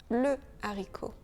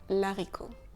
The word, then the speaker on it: haricot: Et de la même façon, on dit le haricot. On ne dit pas l'haricot.